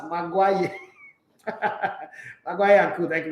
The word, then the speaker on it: Maguire: Okay, so he spelled it Magwaya. You know when somebody wants to be really sarcastic, not like he doesn't know how to spell it too. He just wants to be sarcastic as pronounced Maguire.